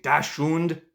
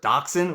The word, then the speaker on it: Dachshund: Apparently, like in German, the proper way to pronounce their name, it's, I think, Dachshund, or how you would usually pronounce it, Dachshund, which I think translates as badger hound or badger dog.